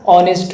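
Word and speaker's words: honest: Second ऑनेस्ट से पहले article ऑनेस्ट की प्रोनाउंसिएशन वोवेल साउंड से शुरू होती है। यानी साइलेंट एच से इसलिए दुरुस्त है एन ऑनेस्ट वे और ए ऑनेस्ट वे गलत होगा।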